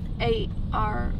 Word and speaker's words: Arm: A-R-M.